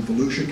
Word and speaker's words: Volusia: Ann McFall is the supervisor of elections in Volusia County. Did I pronounce it correctly?